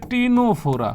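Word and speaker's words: Ctenophora: এর মধ্যে এরকম একটা পর্বের নাম হচ্ছে টিনোফোরা। কি পর্ব? টিনোফোরা। এই টিনোফোরা দেখেন টিনোফোরা পর্বের বানানের মধ্যে নামের শুরুতে সিটা যে আছে সিটা কিন্তু উজ্য আছে আছে কিন্তু উচ্চারণ হয় না অনেক মানুষের জীবনে আমাদের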